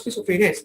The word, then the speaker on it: schizophrenia: When you pronounce schizophrenia, there's a T when you're pronouncing schizophrenia.